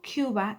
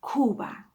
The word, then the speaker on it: Cuba: Cuba, so it's not Cuba, it's Cuba.